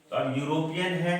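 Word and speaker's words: European: है यूरोपीय ठीक है यूरोपियन योग आई का उच्चारण नहीं हो रहा है यो का उच्चारण है यह जो है यह भावेल नहीं है बल्कि यह कंसोनेंट है इसलिए क्लियर है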